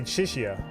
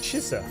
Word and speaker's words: Chisa: I always say Chisha, but Chisa.